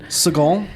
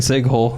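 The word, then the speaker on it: Segel: oh seagal what is it with you in pronunciation dude seagal this is jason siegel oh my gosh anyways um so yeah i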